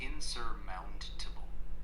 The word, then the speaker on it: insurmountable: If you mean insurmountable, it's pronounced insurmountable. The main stress is on mount.